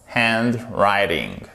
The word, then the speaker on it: handwriting: Alors, my handwriting, donc mon écriture manuscrite, handwriting. Le W ne se prononce pas.